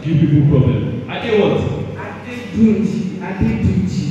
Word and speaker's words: Adeduji: Adeduji. Spell it. Say that spell. A-D-D-E. No, A-D-E-D-U-J-I.